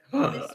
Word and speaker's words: Loomis: So it's pronounced the Loomis method, I think. I go eat I've now. heard Loomies Night. method. No. Yeah. Loomis method.